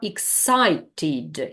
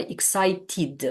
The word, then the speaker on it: excited: stressed here we have excited here we pronounce this Ed that's why excited we cannot just uh uh like we cannot omit using this vowel sound here excited here we have